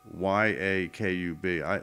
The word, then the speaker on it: Yakub: by this character named Y-A-K-U-B. To me, it's pronounced Yakub. But if you look at the phonetics there of Yakub, I'm basically saying ye, meaning you, and then cube.